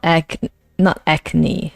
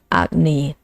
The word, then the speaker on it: Agni: Not acne, but Agni.